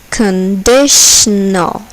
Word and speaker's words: conditional: Conditional. Conditional. Here, the second syllable is accented. Conditional.